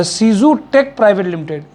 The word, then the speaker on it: Cuezu: सीजू, sorry मैं शायद गलत आपसे बोल रहा था, सीजू टेक प्राइवेट लिमिटेड। तो इसकी स्पेलिंग है, हमारे यहाँ पे 1-2 लोग बहुत